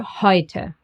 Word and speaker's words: heute: And E and U. Together they get pronounced as oi, like in Europa, neu, or heute.